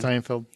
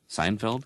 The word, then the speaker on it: Steinfeld: Steinfeld. Seinfeld?